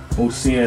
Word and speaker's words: Muhsinah: Musina, that's spelled Muhsinah.